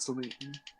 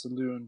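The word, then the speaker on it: Selûne: Yeah, saloon, not saloon. It's pronounced saloon because of the little fucking wiggly thing on top of it is huge.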